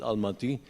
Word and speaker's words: Almaty: I may have just mispronounced it. Yeah, which now they call it Almaty.